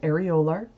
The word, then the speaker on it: areolar: This is sometimes called areolar tissue. I've also heard it pronounced areolar. Areolar seems to be the more common pronunciation in the US, though.